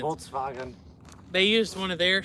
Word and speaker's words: Volkswagen: I like to say it like the Germans. Volkswagen.